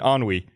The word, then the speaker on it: ennui: concept of ennui and she pronounced it in you I know and Frank reason sounds like no I think you mean on we just know NUI there's no it's a French word it's on we she was no it's